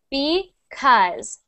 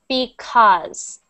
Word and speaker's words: because: going to be using this word the correct pronunciation is because because because because not because not because like an o it's because because perfect because because perfect perfect okay great